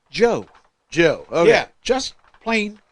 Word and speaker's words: Dju: It's spelled DJU, Right? but it is pronounced Joe.